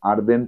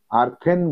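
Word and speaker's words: earthen: আ ম্যান who makes আর্দেন pots, আর্দেন, আর্থেন বলবে না, আর্থেন বলে অনেকে, তোমরা কিন্তু আর্থেন বলবে না, আর্দেন পটস।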